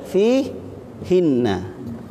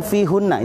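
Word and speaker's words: فِيهِنَّ: Aslinya hunna tapi fi hinna karena untuk memudahkan karena berat kalau diucapkan fi hunna itu agak berat. Makanya diringankan dengan apa? Dengan dikasroh. Tapi intinya sama. Hunna hinna sama.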